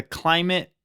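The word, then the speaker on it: Klymit: So, the first one is the Climate Static V2. Climate is spelled K L Y M I T.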